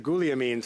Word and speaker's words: Guglielmin: So just before resuming debate here, I wanted to recognize that Guliamin would be the proper pronunciation, and you've brought